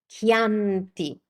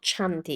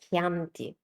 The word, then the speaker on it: Chianti: Chianti. It's not Chianti, it's Chianti.